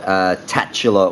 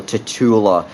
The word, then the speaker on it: Tatula: like to call it tatula or titular real depending on what part of the world you're in and how you pronounce it but that was the